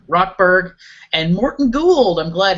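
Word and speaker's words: Rochberg: George, did we decide how this is pronounced? It's Rockberg. Rockberg.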